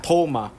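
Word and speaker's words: Thoma: Ichigo Kurosaki Tom and that's spelled with a th h o m a like thas the Tank Engine yes Tom Tom um we don't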